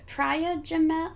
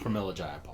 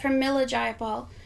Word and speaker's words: Pramila Jayapal: And another thing is it Priya Jamel? How do you pronounce her name? Pramila Jayapal. Pramila Jayapal.